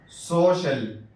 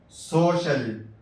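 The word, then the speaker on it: social: Ocean, ocean, ocean. دیکھیے سی کے بعد ای اور اے ایک ساتھ آیا ہے۔ سوشل، سوشل۔ دیکھیے یہاں سی کے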